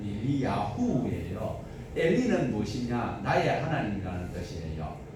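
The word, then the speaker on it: אליהו: 엘리야, 우리는 엘리야라고 기록되어 있는데 원어대로 발음을 하면 엘리야후예요.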